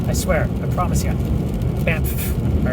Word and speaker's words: Banff: And yes, that is how you pronounce it. I spent years with that, Banff, because it has two F's at the back.